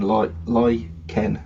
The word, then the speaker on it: lichen: Yeah, It does say in the pronunciation lichen, lichen. yeah, Um, but then actually it also says UK also lie, and it does look like chen. yeah, So I yeah, think both are acceptable.